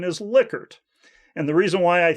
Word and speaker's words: Likert: and he told me it should be pronounced liquor and not like her at any rate uh